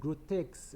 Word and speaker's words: Grotesk: It's spelled tomato. That's Tomatomato. T-O, that's tomato, and Grotesk, right, is Grotesk.